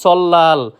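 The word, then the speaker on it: 설날: সময় সল্লাল উচ্চারিত করে থাকি যেটা সম্পূর্ণরূপে ভুল সঠিক উচ্চারণ সল্লাল যার অর্থ নববর্ষ যার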